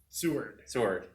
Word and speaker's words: Seward: Seward, yeah.